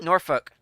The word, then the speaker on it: Norfolk: Ooh, Norfolk. I know it's Norfolk, but it's Norfolk. The L is silent.